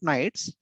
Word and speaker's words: knight: are called as knights pronounced as knight k is silent the value of knight